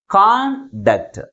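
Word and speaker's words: conduct: first syllable ముందు ఉంచుతున్నాం అర్థమవుతుందా దీన్ని ఎలా పలుకుతున్నాం కాండక్ట్ కాండక్ట్ అంటే ప్రైమరీ స్ట్రెస్ ఎక్కడ ఉంచాలి ఫస్ట్ సిలబుల్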